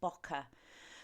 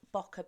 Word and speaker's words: bokeh: the month of December, and our theme was bokeh. So I'm just going to have a little word about bokeh before we get going, for those people who